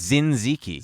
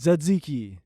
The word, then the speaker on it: tzatziki: What is zinziki? Tzatziki. Satsiki? Tzatziki. I know how to pronounce it.